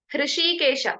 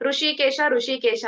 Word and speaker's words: ಹೃಷಿಕೇಶ: ಹೃಷಿಕೇಶ ಅದನ್ನ ಉಚ್ಚಾರಣೆ ಮಾಡ್ಬೇಕಾದ್ರೆ ನಾವು ಸಾಮಾನ್ಯವಾಗಿ ಋಷಿಕೇಶ ಅಂತ ಹೇಳ್ತೀವಿ, ಹೌದಲ್ವಾ? ಅದು ತಪ್ಪು. ಋಷಿಕೇಶ ಅಂತ ಹೇಳ್ಬಾರ್ದು.